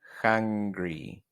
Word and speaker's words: hungry: hambriento es hungry hungry y hungry como si fuera una jota pronunció la h con un sonido aspirado como si fuera jota hungry hungry es hambriento